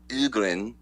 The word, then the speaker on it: Ögren: My last name, Ögren, it's pronounced Ögren in Sweden.